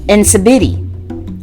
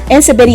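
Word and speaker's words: nsibidi: now we have a really cool one called incibity and again if i'm pronouncing our own very sorry but it's spelled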